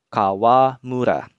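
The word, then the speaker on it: 川村: Kemudian kalau kanji sungai, kita tambahkan kanji mura atau desa seperti yang sebelumnya, dia akan dibaca Kawamura.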